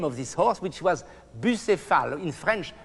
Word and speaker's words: Bucéphale: know the name of this horse, which was Bucéphale, in French, Bucéphale. I don't know how you pronounce in English, Bucephalus.